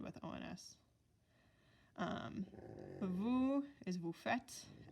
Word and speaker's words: faites: Vous is vous faites, F-A-I-T-E-S. It's a lot of silent letters, but vous faites.